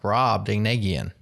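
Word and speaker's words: Brobdingnagian: This is the second time you've done this to me, and I'm telling you, I looked it up on YouTube. It's pronounced bra ding negian.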